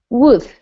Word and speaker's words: would: How do you say Okay, for this word, forget there's an L, okay? okay? How do you pronounce that word? Wood. It's the same pronunciation.